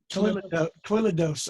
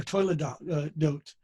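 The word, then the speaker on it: toledot: Toiledos or toiledot. Okay. And the oi is my Ashkenazi coming in there.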